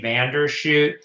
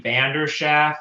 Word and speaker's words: Vanderschaff: On page 1, under public statements, where it says Stacy Vandershoot, that's actually Stacy Vanderschaff.